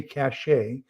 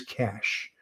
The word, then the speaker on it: cache: it up c-a-c-h-e a lot of people say cachet but actually in French if it was going to be cachet it would be c-a-c-h-e-t so c-h-a-c-h-e is the the first pro first and preferred pronunciation is cash uh like cash a so oh okay I'm